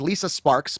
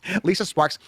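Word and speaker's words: Lisa Sparxx: Her name is Lisa Sparks, but it's spelled Sparxx. Lisa Sparks.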